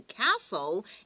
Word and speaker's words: castle: 而这2个公主呢，就是被这个锁在、被关在一个什么地方呢？关在一个空中城堡的 castle in the air。一样，这个城堡的发音，同学要注意一下，那个 t 是不发音的哟。